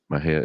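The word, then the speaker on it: Mexia: M&J audio theater 923 East Main Maha Texas Maha is spelled m x i a our ZIP code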